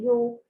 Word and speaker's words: yolk: Yung egg yolk ay nasa loob ng vitelline membrane. Okay. Is the, ano ba ito? The yolk. Okay. We pronounce this as yolk. Hindi binabanggit ang letter L.